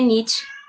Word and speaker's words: Nietzsche: Que tem gente que pronuncia Nietzsche, né? Eu fui descobrir só depois que falavam Nietzsche, porque meu primo me corrigiu falando, porque é Nietzsche.